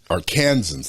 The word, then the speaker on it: Arkansans: That all Arkansans, that's how you pronounce that.